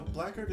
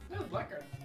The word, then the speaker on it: Blackard: No, Blackard is that's Blackard. Blackard. Blard. Yeah. The Yeah, he pronounced the CK. It was a soft CK. You could hear it.